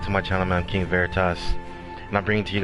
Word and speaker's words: Veritas: of my name a lot of people say viridis it is pronounced Veritas it is Latin for truth saadet though actually